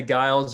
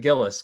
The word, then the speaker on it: Gillis: actually pretty impressive like most people say guiles or gilles or anything but gillis but yeah okay good